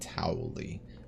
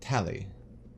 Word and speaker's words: Tali: I always want to pronounce it Towley. No, Tali.